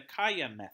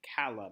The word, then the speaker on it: CALLA: chapter nine focuses on the Khayyam fit or I guess if you didn't pronounce it the Spanish way you could call it the Cala method CA ll amen the Cala method or kiya method has several sentience